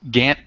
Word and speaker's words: Gant: So we have, is it Gant, correct? Is that how you pronounce it? Yes, that is correct. Gant today, he's going to talk about React Native,